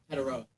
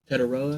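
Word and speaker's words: Tetairoa: yeah, Teteroa McMillan. How do you say his name? Teteroa. Teteroa.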